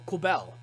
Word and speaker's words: Quibelle: Quibelle! But, no, it's just normal Quibelle. Like, honestly, we could cut that extra E. It would be Quibelle.